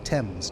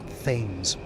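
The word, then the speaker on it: Thames: After scouting around the city walls, I found a hole that led under the temps. That is how you pronounce that, by the way. Tames, not things.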